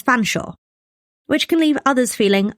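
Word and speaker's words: Featherstonehaugh: school and some say to pronounce the name Featherstone as fansaw which can leave others feeling a little unstoneore.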